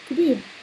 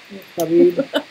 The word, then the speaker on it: Khabib: Spell, how do you pronounce his name? Nurmagomedov. Close. And how about his first name? Khabib. No. Khabib.